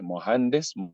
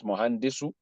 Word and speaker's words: مهندس: Mohandis, mohandisa. Mohandis, mohandis, not mohandisu. Mohandis, because you don't want to pronounce the last vowel.